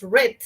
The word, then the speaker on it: read: Algunos cambian la pronunciación, más no la escritura, como el verbo read, ¿no? El verbo leer. El verbo leer en pasado es read, pero se escribe read, ¿no? Solo cambia la pronunciación, entonces, pero son verbos irregulares, ¿sí?